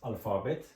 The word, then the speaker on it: Alphabet: artik de dır D alfabet neden alfabet diye okuduk Çünkü p ve h harfi f diye okunur bu iki harfin birleşmesi F olur Onun için alfabet dedik alfabet yani alfabe demek